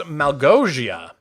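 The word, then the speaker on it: Małgosia: Fun fact, Malgosia is a Polish name, which is actually pronounced Malgosia.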